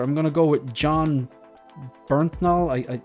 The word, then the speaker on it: Bernthal: I think it's John Bernthal. I can't pronounce it, so I just want to check this. The Punisher actor, I'm gonna go with John Bernthal.